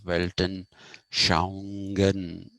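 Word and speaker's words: Weltanschauung: is the meaning of welton shangen you don't have to say shanghan even if you say shang and stop there it's enough you don't have to say shangen that's good enough now let me say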